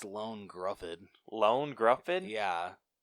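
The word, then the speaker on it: Ioan Gruffudd: so i went with iron gruffad who was mr fantastic as the original fantastic wow you butchered his name what's his name it's lone gruffin lone gruffin yeah how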